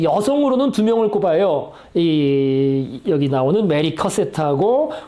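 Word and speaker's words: Mary Cassatt: 자, 그래서 딱 보시면 아시겠지만은요, 이제 드가의 제자라고 하긴 그런데, 그러니까 메리 커셋, 이게 발음을 그냥 원어민 대로 제가 발음을 했습니다.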